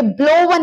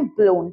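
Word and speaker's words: blown: मत करना ब्लो ब्लू और ये ब्लो वन नहीं है ब्लोन है डब्लू दे के बहुत से लोग इसको ब्लो वन बोल देते हैं ब्लो ब्लू ब्लो एग्जांपल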